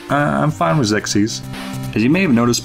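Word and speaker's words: Xexyz: chosen a harder name to pronounce okay it's pronounced sexys known in japan is kame no onogaishi urashima densitsu all right i'm fine with zexis as you may have noticed by the title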